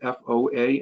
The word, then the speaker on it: FOA: there's a acronym there f-o-a and that's pronounced foa so the follow is